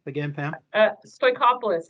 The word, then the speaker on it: Stoikopoulos: name again pam uh stoichopolis it's very similar to workoff list so we're good okay